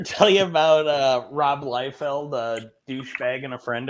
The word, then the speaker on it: Liefeld: you about uh rob liefeld a douchebag and a friend of mine it's uh pronounced la feld now i believe okay no you didn't